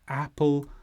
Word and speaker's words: apple: lovely he is the apple of my eye and to say it properly you need to stress the first part of Apple app and then the word